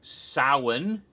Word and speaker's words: Samhain: nevertheless their influence continued in their ancient holiday soin which is spelled like Samhain but it's pronounced Allen became